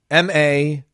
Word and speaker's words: Maluk: And then it's M-A-Luke, like Cromanhawk or Campbell. So, right. Maluk.